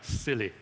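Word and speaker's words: SIYLI: yourself Leadership Institute and it's pronounced as silly so get silly and it's true by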